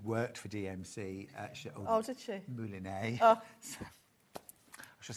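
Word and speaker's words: mouliné: If you want the stranded coffin, it's moulinet. I know how to say it now. I didn't know how to I've been say calling it moline.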